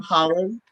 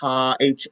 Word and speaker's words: Haaland: This month, Deb Holland, and I may be pronouncing that wrong. It's Haaland, was confirmed as the first Native American Interior Secretary.